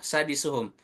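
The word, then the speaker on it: سَادِسُهُمْ: Fathahnya di sa, di depan sa ada alif. Maka sa-nya dibaca 2 harokat. Dengan cara tadi, di ayun aja. Saya praktekkan untuk contoh sadisuhum.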